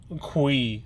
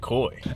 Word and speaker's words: Cui: Abby Quinn, and Kristen Cui. I want to say that's how you pronounce it. C-U-I, Cui. It's definitely not coy.